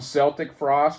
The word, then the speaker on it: Celtic Frost: I call them Celtic Frost because that's how it's spelled.